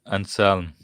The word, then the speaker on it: Anselm: So even Anselm's reformulations later reformulations take into account no necessariness, and Plantinga builds on necessariness. But why Madan, can I correct you on one thing? Go on. It's Anselm.